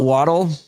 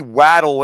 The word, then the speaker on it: Waddle: English a double consonant makes the vowel short so it should be waddle anyway I don't know why everybody says waddle to begin with only because it's a proper name and a man can say his name however he wants to so grammar doesn't apply but technically a double consonant should make that a short it should be wadle Tua is injury-prone yes